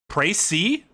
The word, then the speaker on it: précis: Precis? That was me last night. Like, jeez. Précis? See, Tom, that's what I thought it was too. Apparently it's précis.